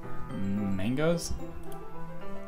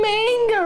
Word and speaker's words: manga: Mangoes? You mean manga, right? Manga. That's how you pronounce it, right?